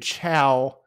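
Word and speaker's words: ciao: remodel oh no uh this one says could chow but it's spelled c-i-a-o oh my god and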